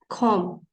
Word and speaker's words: comb: Comb. Walang B, comb.